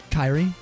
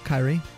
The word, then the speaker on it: Kyrie: Oh, it's pronounced Kyrie, like that. Kyrie.